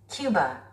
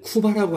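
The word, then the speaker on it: Cuba: 큐바, 큐바, 큐바. 우리는 쿠바라고 하죠. 큐바, 큐바, 원어민들은 큐바라고 합니다. 원래 발음교를 보면요. 쿠버로 돼 있어요, 여러분들. 근데 원어민들은 큐바. 큐바, 큐바, 큐바, 큐바.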